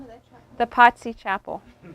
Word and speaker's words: Pazzi: The Pazzi Chapel. Spell it. Pazzi, like pizza. Pizza, Pazzi.